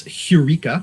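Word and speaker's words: εὕρηκα: The Greek word is heureka with an H in the beginning.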